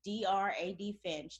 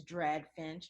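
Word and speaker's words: DrADFinch: social media handles at DRAD Finch. That's Dr. A.D. Finch. Or some people pronounce it as Drag Finch. However you pronounce it, it's all good.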